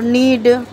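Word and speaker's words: knead: और नीड, इसमें के साइलेंट है।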